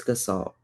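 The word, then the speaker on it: Gestalt: say G like the G first verse well pronounce the G in a different way but um it's gassalt.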